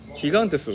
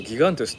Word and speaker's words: Gigantes: まないんだったらヒガンテスをギガンテスって読まないでほ